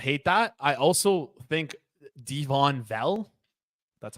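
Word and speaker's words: Devaughn Vele: I also think Devon Vell, that's how you pronounce his name.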